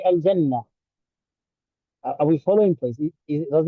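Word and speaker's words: الجنة: So, for example, if you say al-jannatu, al-jannatu, that's a full pronunciation of that word al-jannah, and for short we say al-jannah. So we've eaten up the last letter.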